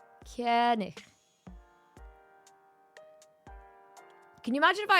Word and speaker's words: König: Something like that, but it's not a hard G. Koenig.